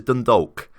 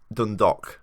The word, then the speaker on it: Dundalk: For example, I'm reading this as Dundalk, but apparently he says it's Dundalk. So Dundalk, just imagine it's an O rather than A and L, I suppose.